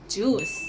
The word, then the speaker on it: juice: yeah go ahead yeah i feel like thai people have been taught that these were pronounced jui but actually it's juice yeah yeah right okay